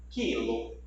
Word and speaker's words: quilo: Observe os exemplos. Guia, queijo, quilo. Você não escuta a pronúncia da letra U.